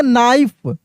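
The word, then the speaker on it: knife: अब देखिए यहाँ पे के क्या है? के साइलेंट है, के साइलेंट है यानी इसको हम लोग पढ़ेंगे नाइफ, शार्प नाइफ।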